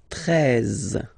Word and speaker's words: treize: Then now if you combine this E and E, you get the sound E, really open. Treize, treize. Final E, as usual, not pronounced.